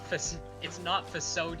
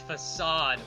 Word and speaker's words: facade: It's not facade, you fucker. It's facade with an A.